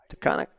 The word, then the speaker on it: Taconic: another ending from robbie gilchrist from team taconic to conic rangers features is that how we say it